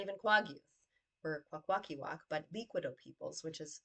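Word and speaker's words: Kwakwaka'wakw: Um, and it's not even pronounced that way. It's Kwaguth. And we're not even Kwaguth. We're Kwakwakiwak, but Liquido peoples, which is southern from Kwaguth.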